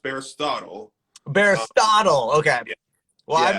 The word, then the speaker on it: Bearistotle: Um, so it is pronounced Bearistotle.